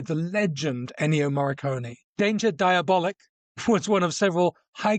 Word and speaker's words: Diabolik: Today we're talking about Danger Diab, which is not how it's pronounced. Sorry, Danger Diabolic.